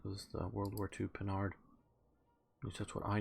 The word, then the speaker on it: Panhard: Okay, yeah, this is the Panhard or Panhard, sort of how I pronounce it, armored car.